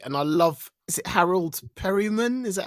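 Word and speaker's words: Harold Perrineau: I love it and I love is it Harold Perryman is that how you say his name yeah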